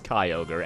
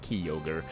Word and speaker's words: Kyogre: But I can totally see how this is Kyogre and not Kyogre.